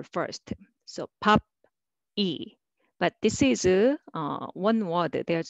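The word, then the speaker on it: 입이: However, more natural way is EB, EB, okay?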